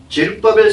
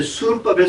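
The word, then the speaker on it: זְרֻבָּבֶל: 이게이 그리스도 당시에는 성벽도 건축이 되었고 성전도 제루바벨 성전. 즉 개혁 성경에는 이제 수룹바벨 성전이라고 하죠.이 이 발음은 잘못된 것입니다.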